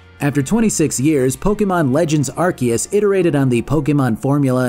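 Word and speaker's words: Arceus: oh and side note I pronounce the Pokemon as archus uh mostly because of this archus if you pronounce it arus though there's nothing wrong with that it's just a Pokemon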